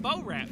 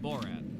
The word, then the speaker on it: Borat: No, I get it now that you say it, but first you're like in that bow rat movie. Yeah. How do you say it? Borat.